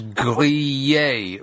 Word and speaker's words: grillé: And the word after it was Grille, which is grillé, which is a very difficult word for English people to pronounce.